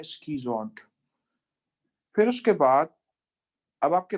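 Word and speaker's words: schizont: शाइजोन्ट इसका सही प्रोनाउंसिएशन नहीं है, इसका असल प्रोनाउंसिएशन है स्कीजोन्ट।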